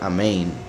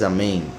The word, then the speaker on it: amén: Pues se supone, o sea, los que ponen amén, por decirlo así, no saben que se pronuncia amén. O sea, la pronunciación más correcta es amén.